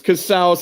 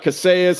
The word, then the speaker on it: Casaus: It's Cass. It's not Cassas. It's not Casius. It's not rhymes with house like you're in the house of Cas, y'all. That's what house of Cass. It rhymes with house.